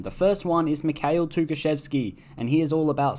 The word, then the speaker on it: Tukhachevsky: Tukhachevsky.